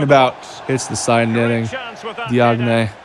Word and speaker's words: Diagne: Diagne. I think it's pronounced Diane or something like that.